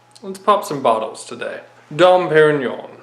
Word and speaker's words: Dom Pérignon: pop some bottles today dump Aaron Yan was proper pronunciation don't get me wrong